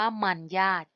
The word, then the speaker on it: มรรยาท: กน นะ คะ ค่ะ คำ แรก คำ ว่า มรรยาท อ่าน ว่า มัน ยาก จรรยา อ่าน ว่า จรรยา